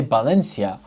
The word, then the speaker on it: Valencia: Valencia. See, you read it as a th. And if you don't, you say Valencia. No big deal. Everybody understands you.